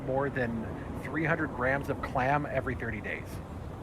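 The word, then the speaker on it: Kläm: It's clam. It's another product. It's another product from the games I read. So it's spelled KLAM.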